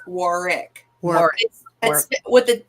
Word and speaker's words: Warwick: Warick yeah it's not Warwick it's Warick war with the the second W is silent oh thank you very